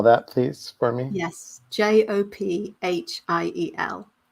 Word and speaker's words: Jophiel: please for me yes j-o-p-h-i-e-l so us americans we would say jo jofiel jophiel jophiel i don't and that's